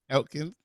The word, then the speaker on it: Aiken: Diane Aiken, that right pronunciation? Yep, Aiken.